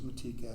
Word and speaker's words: Matika: F is a 1-year certificated contract, approved Madeline Matika, pronounced as Matika, as our K-12 music teacher under a 1-year certificated contract, step 0 for 23-24 school year.